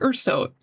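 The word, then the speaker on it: 얼쑤: Idol, pronounced Urso, is a sound one would make out of excitement or to bring out excitement when singing or dancing to traditional music in Korea.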